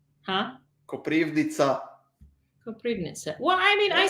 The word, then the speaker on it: Koprivnica: Koprivic? Huh? Koprivnica.